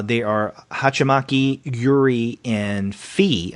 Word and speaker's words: Fee: are hachimaki Yuri and fee I guess you pronounced the fee it's f-e-e uh these are I